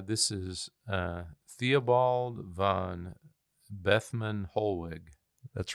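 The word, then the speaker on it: Bethmann Hollweg: his name uh this is uh Theobald van bethman holg that's right bethman holwick so so he served under Wilhelm um his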